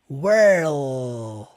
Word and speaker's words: world: sau da boca World primeiro som do R were depois o som do L world world world world e aqui nós vamos fazer uma coisa que o Silvestre não fez que é o quê Colocar o D no final ele não cita dele não